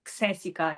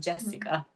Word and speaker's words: Xhesika: at my name like how do you even pronounce this because they in Italy is like cica it's not Jessica so but yeah I start to find my